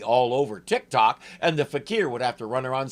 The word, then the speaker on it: fakir: are here this fiendish Faker fettered by your friendly neighborhood spider man yes I know that's how it's spelled but it's not an American word it's a Hindi one and it's pronounced fakir sorry I just had